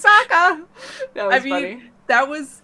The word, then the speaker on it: Sokka: Rhymes with Sokka.